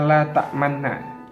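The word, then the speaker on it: لا تأمنا: Di kalimat la ta'manna, membacanya harus dengan monyong.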